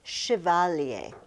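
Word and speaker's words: chevalier: It's it's because it's French. Not that the French are weird, but it's just it's not an English word. And it comes from shiovalier.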